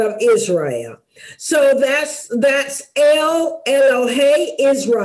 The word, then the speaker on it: El: okay now uh we're going to talk a lot about the name l e l that's pronounced L and L of course is translated